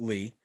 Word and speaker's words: Li: li lee i guess i think they pronounce it lee yeah but they have it he spells it li and neo um was